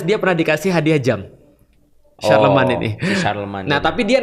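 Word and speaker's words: Charlemagne: Charlemne tulisannya. Oh, Charlemne bacanya apa? Iya, Sharleman.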